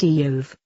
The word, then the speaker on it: Job: The name Job is pronounced Eov, even though it appears just like what we call our work.